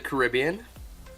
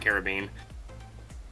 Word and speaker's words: Caribbean: the Pirates of the Caribbean that's how you're supposed to pronounce it people it's not Caribbean on Stranger Tides directed